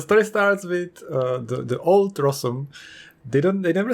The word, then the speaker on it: Rossum: How do you pronounce Rossum? Is it Rossum's? Rossum's? How do you pronounce it? I don't know. Like in Czech, I would say Rossum.